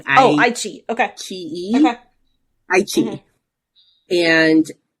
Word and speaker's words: iQIYI: You watch it on the one that I always pronounce wrong. iQIYI. Okay. Chi. Okay. iQIYI.